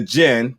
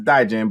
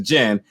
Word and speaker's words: Djinn: out the uh the gin the d is silent so not the die jam but the gin uh again coming on